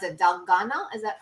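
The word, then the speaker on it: 달고나: The memes that have been going around about that, how do you pronounce it? Dalgona? Is that correct? Dalgona.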